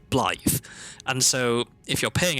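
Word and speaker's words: Blaidd: Like B L A I D in English would be pronounced blade. But when you see it, it's also spoken by the NPC you're talking to. Right? They say BL.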